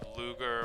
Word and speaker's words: Luger: Same thing with like the Luger or whatever people call it a Luger pistol. I call it a Lugger pistol. There goes my luggage.